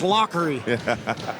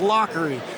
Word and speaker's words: Lavery: fight him fight him it's lockery he said it's lockery it's German Irish I believe he said